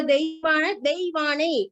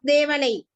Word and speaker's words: Deivane: Paul sir, the pronunciation of the Deivane, not Devanai. Deivane. Yes, Deivane.